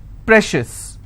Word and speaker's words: precious: corn corn shifts okay precious how many syllables again precious I will stress on pray same thing applies for